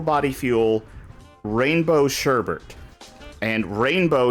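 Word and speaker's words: Reignbow: fuel rainbow sherbet and rainbow here is spelled re e i g n b o w nice that's very edgy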